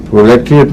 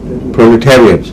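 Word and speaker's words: proletariat: کی اصلاح کر لے، پرولیٹریٹ نہیں ہے، پرولیٹیریٹ۔ اور وجہ یہ ہے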